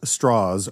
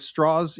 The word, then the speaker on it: Strauss: Now, I don't know if straws is the southern pronunciation or if that in fact he did change it. Um, but it is real insulting right from the beginning and in particular with what Straw says back. He says, "I'm president of Temple Emanuel in Manhattan." Straws is just a sudden pronunciation.